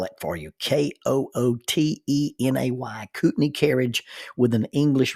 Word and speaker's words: Kootenay: Now, rather than trying to explain all that, I'll spell it for you. K O O T E N A Y, Kootenay carriage with an English reeve, R E E V E.